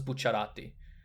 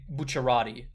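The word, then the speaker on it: Bucciarati: did almost everything correctly the only name finally that they consistently mispronounce this bucharati because they say bucharotti a lot which you gotta have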